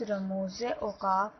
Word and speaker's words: رموز اوقاف: بات کو غور کیجئے کہ زے کے نیچے زیر ہوگی اور اس کا تلفظ رموز اوقاف ہوگا۔ رموز اوقاف دو لفظوں